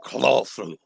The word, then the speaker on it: Cthulhu: supposed to be pronounced some people i think lovecraft himself said it's supposed to be it's supposed to be like clawful yeah yeah it's a guttural almost uh growling sound so it's not